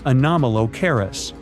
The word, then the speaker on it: Anomalocaris: The name is a bit tricky to pronounce, so I'm not going to. Okay. Okay. It's Anomalocaris, but it just literally means unusual shrimp.